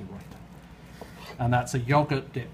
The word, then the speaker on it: raita: called a raita, which people in America always seem to pronounce incorrectly and they call it a raita, but it's not, it's a raita.